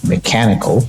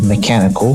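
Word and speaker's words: Meklord Astro Mekanikle: the first one mecho Astro mechanical yes as it's spelled like that and I don't know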